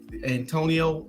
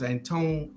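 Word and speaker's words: Antoine: with the young man Anthony and Antonio and no it's Antone antinone thank you um Davis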